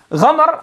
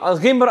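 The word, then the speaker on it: غمر: Ghamr, ghimr, and ghumr, different ways of pronouncing this, means that something that is a lot, plentiful.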